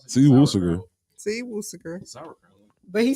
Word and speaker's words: Worcestershire: See, Woosager. What? See Worcestershire. Worcestershire sauce. It is. It's see Woosager. See Worcestershire.